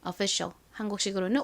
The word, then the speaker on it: official: official 한국식으로는 official이라고 표기하죠.이 단어의 의미가 뭔가요?